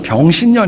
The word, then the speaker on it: 병신년: 어떤 헤인즈 혹시 아시는지요 에 발음을 잘 하셔야 됩니다 2016년 도는 병신년 입니다 그리고 원숭이 해로 저희